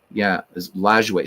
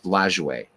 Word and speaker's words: Lajoie: So in French, it's Lajoie, and that's how I pronounce it, as Lajoie. But I've heard people say LaJoie and Lajoie, and but looking it up, doing some research, it was pronounced Lajoie, so I'm going to stick with Lajoie.